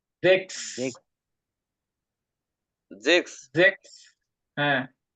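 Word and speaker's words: sechs: সেন এল 16 clear ভাই এই সিক্স এর উচ্চারণটা আমি আসলে বুঝতেছি না জেক্স জেক্স জেক্স হ্যাঁ জেক্স জেক্স এটা বানান করলে কি হবে আমি আপনার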